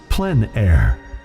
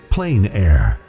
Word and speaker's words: plein air: open air or outdoors the French pronounce it plenn air others say plein air no matter how you